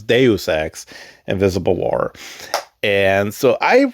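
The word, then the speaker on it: Deus Ex: I think at one point I called it douchex. Um so I had to look it up like how the hell do you pronounce it? So it's Deusex Invisible War.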